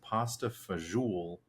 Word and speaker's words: pasta fagioli: for this recording is pronounced pasta fajoule. You go to an Olive Garden and you hear people order. It's the pasta fagioli.